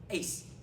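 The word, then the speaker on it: -ase: end with three letters a-s-e pronounces Ace okay all enzymes have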